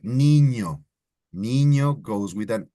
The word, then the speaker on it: niño: So this specific letter is ñ and is pronounced ñe, right? Like niño.